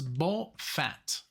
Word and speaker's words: Bofat: so this is it the way it's pronounced as ball fat uh it's even two words both fat um Scott Henderson tribal